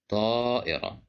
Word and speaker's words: طائرة: Here we have the letter ta controlled by fatha, and we have alif. So that's why we pronounce it as طائرة.